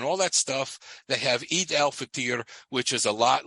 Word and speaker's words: Eid al-Fitr: At the last day of Ramadan, and it's spelled EID dash AL dash FITR. Eid al-Fitr, I think is the way it's pronounced.